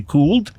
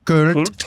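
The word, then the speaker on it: Köld: Is there an umlaut over the O? There actually is, believe it or not. Perfect. So am I supposed to say cooled? Cool. Is that what? Cooled?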